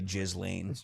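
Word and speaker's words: Ghislaine: I you can't say her name right. It's got to be Jiz Lane.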